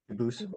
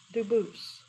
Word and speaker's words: Dubus: They do pronounce it dubis, but you said you pronounce it dubus as the original dubus as the original French. French. Yep. Very well. Duboose.